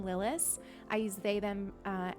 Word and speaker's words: Lilas: Um, if anybody's new to the channel or to me, uh, I I pronounce my name Lilis.